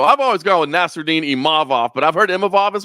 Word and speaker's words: Imavov: Imavov. Am I saying that correctly? It's very hard for me to pronounce it.